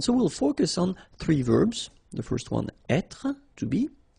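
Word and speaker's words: vert: Feminine Rouge remember rou ver so masculine form you don't pronounce the final T ver feminine form so listen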